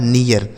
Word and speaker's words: near: ठीक है, NEAR, यन से हो गया न, ई ए का उच्चारण ईय, आर से हो गया र, लिखा है नियर।